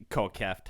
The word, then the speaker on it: Kieft: after this episode, But- you got to get a Kieft, or how do you say it? Kieft.